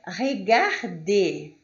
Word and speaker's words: regarder: Vamos lá, quando vocês tiverem o ER, o EZ e o E com acento no final de uma palavra, vocês vão ter a mesma pronúncia, que é E. Como na palavra regarder, regarder.